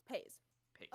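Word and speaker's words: Paizs: about the car ride yes his name is pronounced John pa pa it's not Pi it's pa pa um and this movie just means so much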